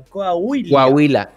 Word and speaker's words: Coahuila: ¿Cómo se pronuncia? Coahuila.